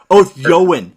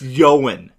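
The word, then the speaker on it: Ioan: name his name is I don't know how to pronounce that first name it's i/o a n like I am i OE n io a n io and I even heard o goin it's yawen yo and Griffen Griffen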